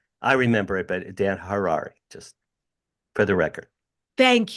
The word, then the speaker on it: Harary: by the way it's Harari Harari har like H like H Harari that's how I remember it's like rhymes with Ferrari and that's how I remember it but Dan Harari just for the record